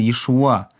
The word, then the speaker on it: Иешуа: На иврите есть только одно слово, означающее спасение, и оно произносится Иешуа, то есть с ударением на последний слог.